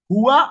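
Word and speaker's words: هو: যা ব্যক্তি বা বস্তুর নামের পরিবর্তে ব্যবহার হয় তাই ইংরেজিতে প্রোনাউন, আরবিতে জমির, বাংলায় সর্বনাম। তাহলে বাংলায় যেটা সর্বনাম, আরবিতে যেটা জমির, ইংরেজিতে যেটা প্রোনাউন, সেটাই হচ্ছে আমাদের জমির।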